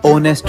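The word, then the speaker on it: honest: देते हैं मतलब मैम जैसे एच लेटर ओनर में आर में ऑनेस्ट में नहीं बेटा को हम इग्नोर नहीं साइलेंट कंसीडर करते हैं अच्छा यह सुनकर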